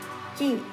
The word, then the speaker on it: Quay: Spelled qu u a y but pronounced key like malok and key.